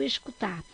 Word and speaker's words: escutar: Vamos ver o escutar. Escutar! Qual é a sílaba mais forte? Então, é o tar.